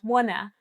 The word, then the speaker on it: wanna: It's just for the fluent pronunciation native speakers, link these two words, wanna, and then when you say it faster, this t actually disappears.